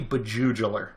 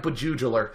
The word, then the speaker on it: Bjuejeuler: his name mechanical this game is Just profoundly beugel that's right beuel it's a word I made up that means